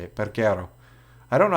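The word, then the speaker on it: Peguero: Perguero.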